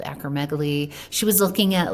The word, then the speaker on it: acromegaly: Can we just briefly talk about acromegaly? Is that how we pronounce it?